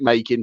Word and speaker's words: Makin: bacon i don't know my surname is spelt m-a-k-i-n and i pronounce it making so i think it's